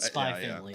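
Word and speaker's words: Spy × Family: it's Hunter Hunter but spy family too it's just a it's a quirk of Japanese titling that the X's silence you know what dude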